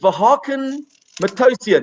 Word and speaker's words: Vahakn Matossian: Is it Vahakn Matossian? Is that how you pronounce it?